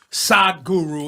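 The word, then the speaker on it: Sadhguru: Our very special guest today, Sad Guru is with us. Am I pronouncing it right?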